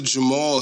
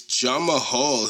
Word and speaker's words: Jamahal: jamahal hill jamal hill they they pronounce the jamal hill but it's jama hall hill is how it spoke